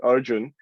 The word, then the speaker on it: Arjun: the mahabharat which where my namesake and pronounced in sanskrit arjun is coming up against